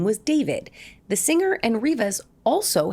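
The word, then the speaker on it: d4vd: The car is registered to a singer named David. It's spelled D4 VD and the body is that of a 15-year-old girl, Celeste Rivas.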